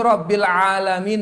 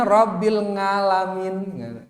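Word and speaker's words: رب العالمين: Ya, rabbil alamin, mampu rabbil alamin, mampu ya. Lagu rubahna rabbil ngalamin. Kenapa dengan baca ngono nih? Alhamdulillahi rabbil ngalamin. Sengaja dirubah kayak gini, maka ini batal sholatnya.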